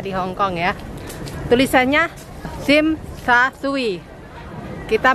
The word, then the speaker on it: Tsim Sha Tsui: Tulisannya Tsim Sha Tsui. Kita bacanya Tsim Sha Tsui.